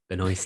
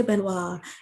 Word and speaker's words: Benoist: Benoist. I always want to say, Benoit, and I know you said that's the French pronunciation or something.